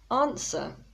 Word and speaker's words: answer: so let's start with answer now people often say answer because of the w but the w is silent this can be a